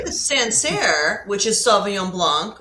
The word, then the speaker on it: Sancerre: Like, you're not unsure about how to pronounce it if you speak English as a first language. It's Sancerre. Okay.